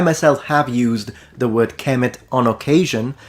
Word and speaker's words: Kmt: know that linguistically speaking the pronunciation KET has no academic linguistic dignity it clearly comes from the Coptic pronunciation Kem and Ki in the boic dialect the long e in